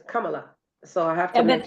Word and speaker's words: Kamala: I do personally know some Indians that put the accent on the first syllable of the word, like the Ramada Inn, the hotel. Yeah. They say Ramada. So it's Ramada. So her name is Kamala.